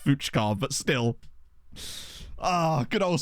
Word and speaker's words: Fucker: Bear in mind, that is his real name, and I know it's pronounced Fuchkar, but still.